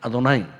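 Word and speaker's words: אדני: 분명히 글자는 여호와예요, 여호와. 그런데 이 여호와를 안 읽어요. 밑에다가 아도나이를 표시를 해놔요. 그러고 여호와 다 나올 때는 밑에 아도나이라는 다른 단어가 붙어 있어요. 모음이 붙어 있어요. 그러면 그걸 아도나이라고 읽어요. 아도나이.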